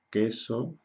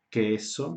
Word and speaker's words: queso: Entonces tenemos las combinaciones que y qui, y en estas combinaciones no pronunciamos la U, ¿ok?